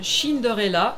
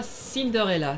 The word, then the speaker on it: Cinderella: Ça se prononce Shinderella et pas Cinderella. C'est de l'italien mais ça s'écrit Cinderella.